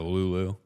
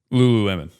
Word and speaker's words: Lululemon: They got a Lulu. Anywhere with a Lulu is fantastic. Thanks, Canada. What's the Lulu? Lululemon.